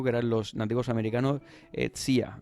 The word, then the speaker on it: Zia: eran los nativos americanos zia es como le llaman y se escribe Z ia pero lo pronuncian como tiia que los encontró este